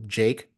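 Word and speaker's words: JVKE: that's why you know Jake um an artist who came by it's spelled like JV ke um you know he went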